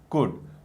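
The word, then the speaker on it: could: ठीक है, वर, will, वुड, वुल्ड नहीं कहना, एल साइलेंट है। बच्चे अक्सर वुल्ड, शुल्ड, कुल्ड कहते हैं, जो कि गलत है। प्रोनाउंसिएशन होगा वुड, कुड, शुड।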